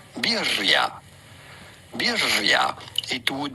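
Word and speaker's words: birria: We are looking at how to pronounce birya. Birya. It would be said in Mexico, but it'd be fine in English to call it birya. Bira or in Mexican birya.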